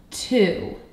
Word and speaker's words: to: Our next word is the word two. Let's tap the sounds in the word two. Ooh. Wow, there are two phonemes. T. Ooh.